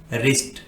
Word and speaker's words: wrist: R आता है तो उस वर्ड में W साइलेंट होता है, जैसे कि WRITE राइट, WRONG रोंग, WRIST रिस्ट, WRING ring, WRINKLE wrinkle.